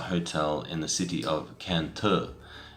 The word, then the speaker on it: Cần Thơ: This is a hotel in the city of Cantor. It's spelt C-A-N space T-H-O, but the tho at the end is actually pronounced more like T. And I'm probably getting that wrong as well.